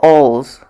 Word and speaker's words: Oles: It's spelled O-L-E-S. Angelika Oles. It's pronounced Angelika Oles.